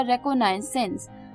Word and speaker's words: reconnaissance: इसी के बाद जो 10th वर्ड था जो कि थोड़ा अटपटा था, प्रोनाउंसिएशन में भी थोड़ा डिफरेंट था, वो था रेकोनाइसेंस।